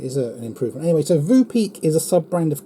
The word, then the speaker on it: Voopeak: three names so I'm I'm going with the Vu peek and Vu peek is spelled v o o p e a ky